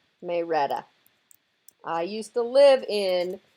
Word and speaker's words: Marietta: Marietta down in Georgia they pronounce that May Retta Marietta but they pronounce it may Rhetta I used to live